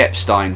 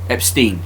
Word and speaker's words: Epstein: Epstein. When I learned German, it was the second vowel between the I and the E that you pronounced. So if it's I E then it's in.